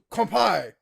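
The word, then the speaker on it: 乾杯: like this is kampai she's like okay come by i'm like no you say kampai and there's a table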